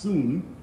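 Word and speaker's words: σύν: that is soon s-u-n it's pronounced soon and it means with or together so what it's saying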